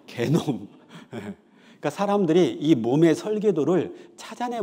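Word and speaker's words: 게놈: 있겠죠 그래서이 몸의 설계도 를이 발음 잘해야 되는데요 개놈 제 욕하는 거 아니에요 개놈 그니까 사람들이이 몸의 설계도를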